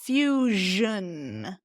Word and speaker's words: fusion: of TV television so in Spanish it's more like sh sh but we want to voice that one too television Fusion see what I'm getting at yeah Fusion yeah